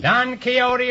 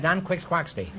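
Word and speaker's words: Don Quixote: Panza Panza don kote don keyote is right until I was until I was 40 years old I pronounced that Dan quick squacky and I have $158.2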